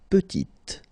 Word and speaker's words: petite: Il est petit, elle est petite. Okay, exactly the same idea. Final T is not pronounced, and then when you add this E at the end, you get the sound T, T, petite.